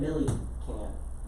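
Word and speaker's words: Millikan: Milliken, but it's spelled funky, so I just put Milliken. M-I-L-I-K-A-N. Robert Yeah. Milliken. Millie can.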